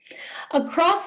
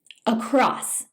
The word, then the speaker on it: across: Across means from one side to the other, typically describing movement or placement. Across. Some English speakers pronounce it across by adding a T sound at the end.